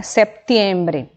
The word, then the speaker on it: septiembre: igual português setembro setembro septiembre eu tenho um pezinho aqui que ele é muda então é septembre a pronúncia outubro octubre também eu